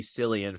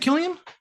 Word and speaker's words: Cillian: Oh no, I was calling Killian Murphy Cillian for so long. Is it Killian? I know Yes it he's like is. Irish. Okay, they have funny Right, yeah. pronunciations sometimes. Okay, No, oops, sorry. I hate Not the my letter mic. C in I hate the letter C in general, so like It's tricky sometimes.